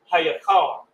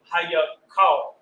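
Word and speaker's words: היכל: Hayakal. Hayakal. We got the ha, the ya, the ka, and the la. Say it again, Capiar. Hayakal.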